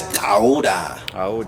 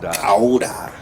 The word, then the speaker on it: Kayode: And so my name starts out like that. So instead of saying the click, they put the K. Because it kind of sounds like a K, but it's coming from your throat.